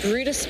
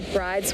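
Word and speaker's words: Bryde's: right whale we have the brutus whale which is a very shy residential species which can also be pronounced the bride's well so those are the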